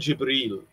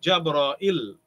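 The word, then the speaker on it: جبريل: angel gabriel masha allah there is jibril you can say jay bara with we have jabra e jabra il jabra il and jabra il right there is a ya here after the hamza in jabara il there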